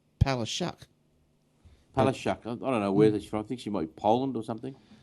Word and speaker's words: Palaszczuk: Now, Premier Anastasia Palaszczuk. Now, apparently I heard someone say that you actually, in wherever country she comes from, it's actually pronounced Palaszczuk.